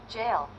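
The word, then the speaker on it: gaol: Google translate tell me it's just Jail jail are you serious jail anyway how to pronounce jail it's hilarious I've been saying it very wrong apparently it's just the English spelling of jail I mean the English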